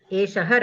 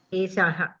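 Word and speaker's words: एषः: Eshaha Ramaha. Okay. This Eshaha, some people say Esa. Esaha, Esaha, like that they say. They pronounce it little differently.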